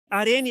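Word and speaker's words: εἰρήνη: A palavra grega é arene. Arene é a forma como eles pronunciariam em grego. Você sabe como chamaríamos isso em inglês? Nós a chamaríamos de Irene.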